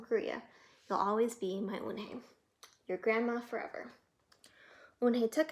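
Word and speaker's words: Unhei: Yes, it's pronounced Eunhae, and it means grace, Mr. Kim added. Eunhae. Joey said slowly and this time perfectly. It made Eunhae smile.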